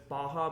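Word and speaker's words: Barra: It's Baja, but it's spelled bar like B A R R A.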